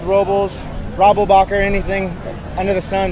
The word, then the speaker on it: Robles: How did you pronounce your last name yourself? Robles. You know, so he was right. Growing up, I got called Robles, Robblebacher, anything under the sun.